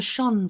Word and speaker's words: shone: and gold and silver shone from the depths of their designs. Now it is not, why is it I say shone and then Americans say shone?